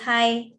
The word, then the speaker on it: high: words so you'll all you'll teach them that i when comes with g h g h are silent okay so it is high now and we call